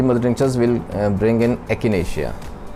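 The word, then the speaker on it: Echinacea: ठीक है, सबसे पहले हम इस कॉम्बिनेशन में there are 3 mother tinctures will bring in एकिनेशिया। Some people pronounce as एचिनेशिया, both are correct, actually it इज़ एकिनेशिया।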